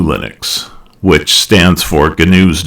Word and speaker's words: GNU: Um, it's actually GNU Linux, which stands for GNU's, not Unix. And yes, it's pronounced with a hard G.